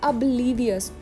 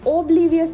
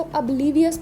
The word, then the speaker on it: oblivious: इस वर्ड की प्रोनाउंसिएशन है अब्लीवियस। ओब्लीवियस नहीं बोलना, इसको अब्लीवियस बोलना है। ठीक है, अब्लीवियस, OB को अब बोलना है, अब्लीवियस।